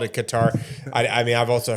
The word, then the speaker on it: Qatar: Anyone in country, we all pronounce it cutter.